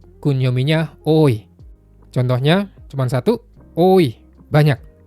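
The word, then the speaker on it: 多: Onyominya ta, kunyominya oi.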